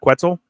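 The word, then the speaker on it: Quetzal: quid quitel gaming Network quetzel like pretzel quetzel okay linked it because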